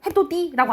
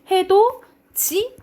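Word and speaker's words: 해돋이: 뭐라고 발음해요 같이 그리고 우리 이거 봐봐 이거 어떻게 발음해 해도지 해도지 해도 띠라고 안 하잖아 그지 해도지 라고 발음하죠 그죠 이게 대표적인 구개음 화예요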